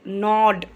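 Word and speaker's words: gnaw: सो immediately तो तुरंत ही उसने क्या किया, ही रैन एंड नॉड। नॉड का मतलब होता है कुतरना, इसमें जी जो है वो साइलेंट होता है, हम एन से पढ़ना शुरू करते हैं।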